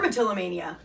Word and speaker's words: dermatillomania: Dermatillomania.